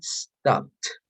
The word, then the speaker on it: stopped: He woke up 14 hours later when the train stopped because and in P, okay, when a verb ends in P, you have to pronounce like t, okay, like stopped.